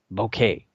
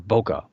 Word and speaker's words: bokeh: Bokeh or bokeh, but I guess it's bokeh. There's an argument about how to pronounce this, but it's basically spelled B-O-K-E-H, bokeh.